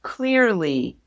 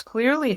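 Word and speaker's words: Cleerly: There is a test called clearly. clearly is spelled C L E E R L Y.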